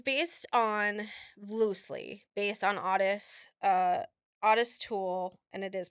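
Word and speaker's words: Ottis Toole: okay so it's based On Loosely based on Odis uh Odis tool and it is pronounced that way oest tool and Henry Lee Lucas um who were a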